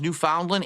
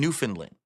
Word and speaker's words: Newfoundland: I've heard it both pronounced Newfoundland and Newfoundland. I've heard both.